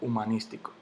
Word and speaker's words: humanístico: Yo no digo humanístico, yo no digo humanístico, yo no digo humanístico, yo digo humanístico.